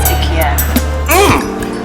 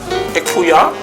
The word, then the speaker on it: Ikia: Oh, my name is Ikia. I know that name. I know the name, Ikuya. Ikia. Don't worry, I know you Americans, you have difficulties in pronouncing our local names.